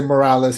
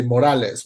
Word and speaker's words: Morales: miles in Earth 42 pronounces his last name correctly uh he doesn't say Morales he say Morales which is the right way to say it yeah he's more Hispanic